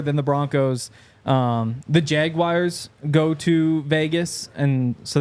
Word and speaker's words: Jaguars: maybe Jaguars what do you say I say Jaguars what you think Jaguars Jaguars yeah what do you say jaguar Jag sounds Jaguar you said it like they doal say jaguar I know I'm saying it wrong but Jaguar Jaguar Jaguar get